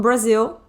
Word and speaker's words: Brazil: Brazil I'm from Brazil Brazil em inglês é pronunciado assim I'm from Brazil sou do Brasil pode falar também onde você